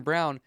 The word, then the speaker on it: Braun: I still can't believe he pronounces his name Christian Braun. That's not his I don't know who told this kid's family that his name is pronounced like that. It should be pronounced Braun. That's how it's spelled. It's spelled Braun, clearly.